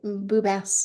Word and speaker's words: Boubès: And I'm so delighted to be here today with Boubès. Did I say it right? Boubès. perfect. It's French.